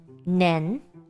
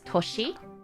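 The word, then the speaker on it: 年: so this is the kanji for a year nen pronounced there's two ways the Chinese way the oh is it kyomi n but the Japanese old way of saying it is toshi right so there's two ways to pronounce year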